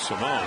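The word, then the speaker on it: Simón: Simone can actually the pronunciation of his name, it was Alfredo Simon last year. He's since changed it to Simone.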